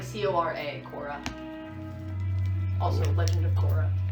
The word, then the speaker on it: Cora: between Corey Cora Cora okay I'm gonna write pronunciation for that like c-o-r-a Cora also Legend of Korra so as it